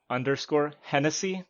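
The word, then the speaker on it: _Hennessee: So it's at _Hennessy. It's spelled like the drink, but instead of EY, it's EE. So HENNESSEE.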